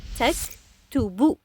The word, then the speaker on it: تكتب: Hiya taktubu. We are keeping the bu sound at the end of the verb always.